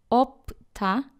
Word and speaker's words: 없다: Or one of 2 letters is not pronounced, like here, 없다, 시옷 is not pronounced.